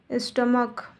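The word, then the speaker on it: stomach: Noun में यदि च सी एच का उच्चारण क की तरह होता है तो एस जोड़कर प्लूरल बनाते हैं। जैसे स्टमक, स्टमक में प्लूरल एस जोड़ के बनाते हैं, स्टमक्स।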